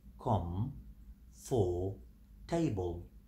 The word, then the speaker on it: comfortable: We have com, we have for, and we have table. Com, for, table. But we pronounce it comfortable.